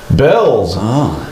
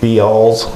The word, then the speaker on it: Bealls: excited about this one Bells is our new sponsor go down and take another look at Bells I'm not sure I would have pronounced that right but uh be I thought it was Beall yeah Bealls yeah Bealls go down to Bealls